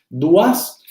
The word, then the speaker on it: Doise: Duas y Valentín. Hay un texto de Duas que se escribe Doise, se los voy a escribir acá en el chat.